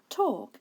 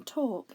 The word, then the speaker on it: talk: l and then k the o sound in talk is made with the a and the l together this is a tricky word because it's not spelt the way you might pronounce it so it's one of